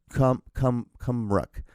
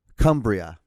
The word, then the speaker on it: Cumbria: reach the hospital in Cumruck. I did not pronounce that correct at all. Cumbrick, yeah. Hold on. We're going to get this. Cumbria.